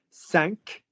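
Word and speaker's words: cinq: before all of you what four numbers do we not pronounce in the way that you think they should be pronounced sank cease weak and deep you do not pronounce those words in full if the next word starts with a consonant saved me five people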